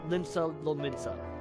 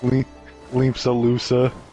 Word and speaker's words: Limsa Lominsa: Limsa Lusa.